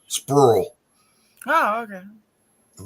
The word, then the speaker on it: Sprewell: It's like Sprewell Bluff, right below there. It's pronounced Sprull.